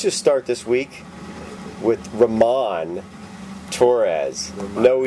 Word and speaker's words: Ramon: Because you can say Ramon. But... Does he really pronounce it Ramon? Yeah.